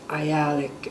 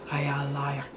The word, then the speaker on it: Ayalik: It's Ayalik, and American pronounce it Ayalik Bay. It's really Ayalayak.